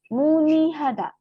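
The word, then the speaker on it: 문의하다: Kemudian ini munihada ya, ini cara bacanya ialah n-nya naik ke sini ya. Jadi ini dibacanya muni.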